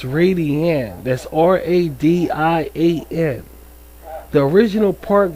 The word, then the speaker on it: Radian: Did I say Did I pronounce that right? I said Radian, but it's Radian.